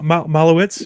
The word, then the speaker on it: Malovec: One guy that's interesting is the Slovakian that they signed, Malovec, if I'm pronouncing that right. Yeah, Timotej, Malowitz.